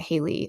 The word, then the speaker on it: Haley: Least Expect It by Haley Cass or Hi Cass. I think it's she pronounces it Haley.